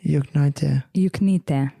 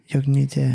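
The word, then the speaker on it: Juknytė: Juknyte. Yeah, that's pretty good. Juknyte. Juknyte. Because why we pronounce as like E.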